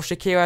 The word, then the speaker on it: Shaqiri: Götze as well as Shaqiri, or Shakira I do believe it's pronounced, and he's actually worth